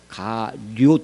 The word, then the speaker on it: 가룟: 가룟 지방의 가룟 사람 이게 발음이 좀 그 요 발음입니다. 가룟 할 때 료 시옷 붙인 가룟 가룟 사람 유다예요.